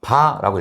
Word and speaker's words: VAR: 단위는 VAR. 얘를 바라고 읽어요. 바. 이렇게.